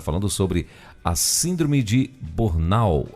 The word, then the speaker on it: Burnout: Ignaldo vai estar falando sobre a síndrome de Bornau. É assim que fala? Burnout. Isso aí é a síndrome de Burnout.